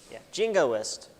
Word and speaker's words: jingoist: Jingoist. Yes. Yeah. Yeah, all the letters are pronounced because it's not French.